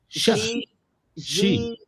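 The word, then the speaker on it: Xi: When it starts with an X, you say sh. She.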